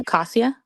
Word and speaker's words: Acacia: Acacia.